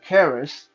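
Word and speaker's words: kris: This here is a southeastern Asian Chris short sword or Chris dagger. Some people will pronounce it Keris, so however you pronounce it, with a dragon pattern on the hilt.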